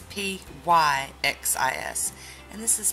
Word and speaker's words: Pyxis: but I looked on their site and it's P Y X is and this is pronounced Pyxis byxis yay so we have top